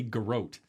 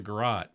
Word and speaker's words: garrote: we were watching and they say garrote um uh and i looked over at karen i'm like you know what do you know what a garage is though they're saying it wrong it's called a garat maybe it's uh what's